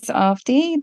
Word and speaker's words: Avadhi: recap my name is ofi the second a in the spelling is silent so it's pronounced as